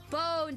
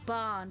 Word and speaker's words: Bon: It's not a bone dance song, though I would prefer that. It's a bond dance song.